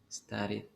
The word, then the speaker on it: studied: Van a pronunciar la D. Cold. Vibration. Cold. Study. Vibration. Studied.